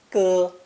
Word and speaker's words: 歌: Pronounced first tone, 歌, 歌.